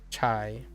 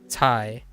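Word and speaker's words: 菜: However, in Fujianese, it's actually this. Is chai. Chai. So it is actually CA to the 4. So chai is Fujianese. So you do pronounce it this way. Chai. Not Thai. No Thai, but chai. Oh, they also pronounce it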